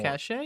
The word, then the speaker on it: cache: just cash I've always I know it's cash I've always said cash I don't I wanted to say I wanted to say something but cach does sound better like it should be pronounced cach like that's objectively phonetically